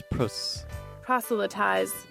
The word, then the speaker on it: proselytize: This is how you pronounce proselytize.